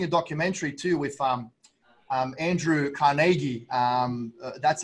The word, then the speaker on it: Carnegie: I was watching a documentary too with Andrew Carnegie.